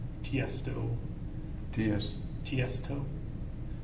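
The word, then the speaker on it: Tiësto: was an artist like tiesto yes ts toe it's uh he's an electronic condition can you spell it t-i-e-s-t-o so the name is tiesto it's not initials it's tief stuff yes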